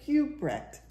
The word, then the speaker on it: Huijbregts: Yeah, I think that's like Hoopbrecht. Yeah. We can't pronounce the last name. It's like Hoopbrecht. Sorry. Huebrecht. Like the J is silent, so it'd be like Huebrecht. Like Herbert, Huebrecht.